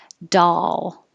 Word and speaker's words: doll: 23 looks like an O, sounds like an A as in ah, doll.